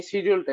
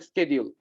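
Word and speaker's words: schedule: হ্যাঁ আপনি অস্ট্রেলিয়ায় যদি শুনবেন এই শিডিউলটা, এটা হলো সাব এশিয়ান ল্যাঙ্গুয়েজ স্যার। মানে দক্ষিণের দিকে মানুষটা এইভাবে উচ্চারণ করে। অস্ট্রেলিয়ান যদি আপনি শুনতে চান, অস্ট্রেলিয়ার মানুষরা বলবে শিডিউল। হুম হুম কিন্তু আপনি যতই আরো উত্তরে চলে যেতে যাবেন, তখন আমেরিকা বা ব্রিটিশ সবাই বলে স্কেডিউল।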